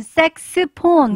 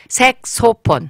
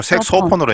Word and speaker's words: 색소폰: 색소폰, 색스폰, 네. 그다음에 와, 뭐, 또 다르게 하는 분들도 많아요. 잘못 발음하면 안 됩니다.